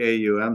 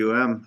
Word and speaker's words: AUM: Because, if you say the AUM sound, it starts here and then progresses its way forward in the throat, with the 3 syllables, A and U, A-U-M, and even the last breath is